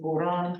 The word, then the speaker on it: Puran: in my writing as Puran. It's the Pali word Purana as it's pronounced in Khmer Thai.